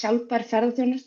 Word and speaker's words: Sjálfbær: Hi, I didn't ask her to pronounce my consultancy, but it's shalper, which means sustainable tourism in Icelandic.